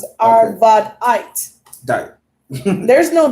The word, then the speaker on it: Arvadite: That's how pretty much I pronounce it. Arvadite.